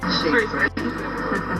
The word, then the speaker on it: Shrewsbury: Time now, though, to find out just how the good folk of Shrewsbury pronounce their town's name. Excuse me, am I in Shrewsbury or Shrewsbury? Shrewsbury.